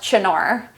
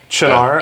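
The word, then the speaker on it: Cynar: that c y n a RAR yeah it's pronounced chinar chinar yeah it is an artichoke Amaro [ __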